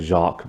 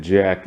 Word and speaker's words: Jack: mom and jack which now i have to call jack instead of jacques because they did pronounce it jack in the show i could've sworn they pronounced it jacques at one point but now sally i